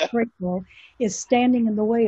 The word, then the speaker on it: Crapo: current chairman in Idaho, I pronounce his last name Crapo, it's actually Crapo, is standing in the way of even this being discussed.